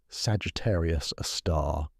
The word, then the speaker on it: Sagittarius A*: Pronounced Sagittarius, a star, this gravitational monster weighs about 4 million times as much as our sun, yet occupies a region smaller than Mercury's orbit.